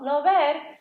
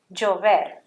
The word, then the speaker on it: llover: Did you hear how I pronounce that? Llover. Not llover, llover. How about this one? I bet you know this one. It's a color yellow. Amarillo. Okay? We don't say amarillo, it's amarillo.